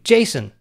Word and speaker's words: JSON: promoted the json format says it's pronounced like the name jason but somehow json seems